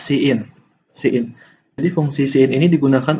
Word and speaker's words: cin: Lalu chain. Nah, fungsi chain ini Oh, bentar-bentar. Ini dibacanya cin.